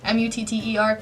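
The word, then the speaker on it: Mutter: then you see that what moot earth I think I'll tell you pronounce that in German mu TT er even when her world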